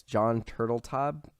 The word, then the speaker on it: Turteltaub: So, I never know how to pronounce his name. It's John Turteltaub.